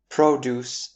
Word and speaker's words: produce: Produce and produce.